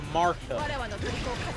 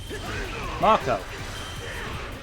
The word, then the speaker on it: Marco: And so, yeah, because I pronounce it Marco. You know, like Marco Polo. Marco.